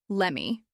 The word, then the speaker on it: let me: Let me becomes lemme. Did you becomes didja. These forms are not incorrect. They're simply how real people speak when they're not in a classroom or reading a script.